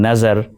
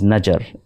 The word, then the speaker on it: Nazar: Listen to Muhammad Rafi pronouncing Nazar as Najar in the film Ram or Shyam for the illiterate and rustic character called Shyam.